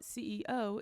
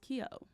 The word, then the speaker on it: CEO: Harvard, it's not CEO, it's pronounced Kio.